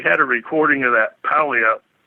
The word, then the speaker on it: Puyallup: And I ended up wandering onto the BFRO site, and they had a recording of that Puyallup. Is that how you say it? Puyallup scream? Puyallup, yeah.